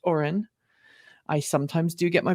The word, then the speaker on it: Orion: we learned that gm's oren facility it's spelt orion but i have it on good authority it's pronounced oren i sometimes do get